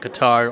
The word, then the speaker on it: Qatar: I think it's awesome they pronounce it guitar or instead of cutter or something our cutter it's not